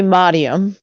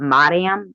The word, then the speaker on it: Mariam: it out um but it's actually modium yes is that how it's like said but it's like Miriam but Mariam I like that yeah